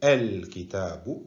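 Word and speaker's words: الكتاب: appelle une hamza instable, qu'on ne prononcera que si rien ne la précède. Exemple, en indéfini ici, nous avons kitabun. En ajoutant l'article, ça fait el kitabu.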